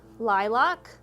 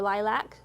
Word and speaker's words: lilac: and the color purple you might hear lavender lilac or lilac depending on how the person pronounces it mauve periwinkle plum plum